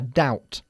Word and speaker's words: doubt: Vale, me alegro que lo hayas pronunciado así porque la B en la palabra doubt, duda, es muda, ¿vale? A doubt.